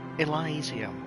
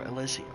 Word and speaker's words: Elysium: But I'm back now and I thought, you know, I'll play Disco Elizium or Elysium. I believe both are correct pronunciations.